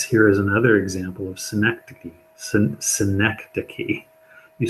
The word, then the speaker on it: synecdoche: Synecdoche.